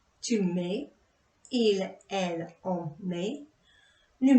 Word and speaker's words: mets: And again, for je, tu, il, elle, on, the S and T isn't pronounced.